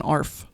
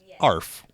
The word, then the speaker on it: ARFF: michelle because i forgot i believe it's called an arf arf like sounds like like a dog barking bring out the arf